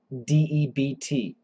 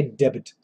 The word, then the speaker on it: debt: uh Nelson corniel asks is it true that you do not pronounce the b in d-e-b-t yes Nelson that is very true we say debt debt